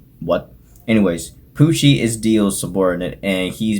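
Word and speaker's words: Pucci: spoiled but the main villain of that show poochie and yes it is spelled with two c's it is actually because it's what anyways pushy is deal subordinate and he's basically trying to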